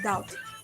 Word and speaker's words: doubt: preferable comfortable and vegetable bee must not be heard in doubt death and dumb both